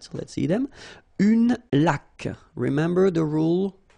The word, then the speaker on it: laque: Une laque. Remember the rule? When you get this Q-U, well, U is not pronounced, so you get K, like that. Une laque. Une hygiène.